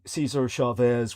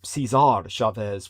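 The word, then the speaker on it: César Chávez: in California is disowning Caesar Chavez without erasing Latino history. Um, a lot of Latino allies and admirers of this once celebrated Caesar Chavez or Cesar Chavez would be a better pronunciation.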